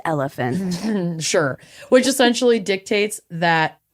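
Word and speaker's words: Oliphant: I when I was first researching this was trying to find cases rooted in the legal loophole around the Olivant decision which essentially dictates it's pronounced elephant.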